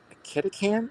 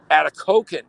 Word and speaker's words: Atikokan: And then from there, we're going to go to Kitikan. Is that how it's pronounced? Kitikan? Atikokan. Okay. Yeah. Atikokan.